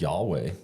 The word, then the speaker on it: Yahweh: Nobody knows how to pronounce it because they didn't use vowels, but it works out to YHWH, and Hebrews read from right to left. We read from left to right. So that's God's name when he says, hey, this is my name. And we pronounce it as Yahweh.